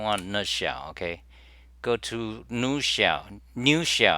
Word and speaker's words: Nushell: Okay, go to new shell. New shell. I suppose you pronounce it new shell, and it's written in Rust.